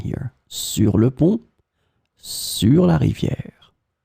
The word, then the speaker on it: sur: In this lesson, we will see together 3 words that are written differently but pronounced the same way. Sur, sur, sur.